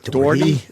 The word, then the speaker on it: Doherty: Doherty? Yes. Doherty? Doherty. Oh, Is that a Doherty laundry. Was that a mispronounce or is that an old cop thing? No, it's No. mispronounced. That was Just I mispronounced.